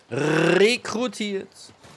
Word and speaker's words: rekrutiert: Die Betonung ist auf dem R. Rekrutiert.